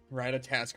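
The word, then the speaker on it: Ratatoskr: Ratatasker is pronounced with a raw instead of a rat.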